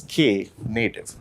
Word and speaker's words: Knative: It's pronounced as Knative.